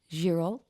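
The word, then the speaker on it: Girault: And then I've also got a girol. I'm presuming you don't pronounce the T at the end of that brand.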